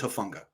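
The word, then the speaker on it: Hufanga: i love matt um how are you pronouncing it before hafenga herfunga i've heard both actually apparently it's hofunga just go by huh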